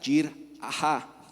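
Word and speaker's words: יראה: La palabra hebrea traducida como temor en la Biblia es yirá, pronunciada yirah, y a menudo se traduce directamente como temor del Señor.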